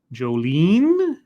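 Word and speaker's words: Jolyne: Joestar says, Scribbles, the Y is pronounced like E. Jolene. Jolene?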